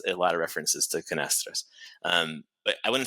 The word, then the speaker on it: Canastra: So, do you pronounce it in the U.S.? Did you pronounce it the Portuguese way, or was it Canastra? Canastra. Canastra. I have a Boston accent sometimes it comes out, but Canastra would be how it's pronounced.